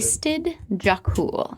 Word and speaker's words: Istid Jokul: And then on the dog collar, it also says Istid Jakul, which you know is another research center up here. Can you say the name of that research? Istid Jakul.